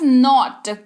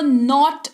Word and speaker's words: knot: अब अगला शब्द है हमारे पास नॉट, KNOT। जी हाँ, स्पेलिंग इसकी के से शुरू हो रही है, लेकिन इसका उच्चारण जो है वो नॉट किया जाता है। के जो है यहाँ पर साइलेंट होता है, इस बात का आपको ध्यान रखना है।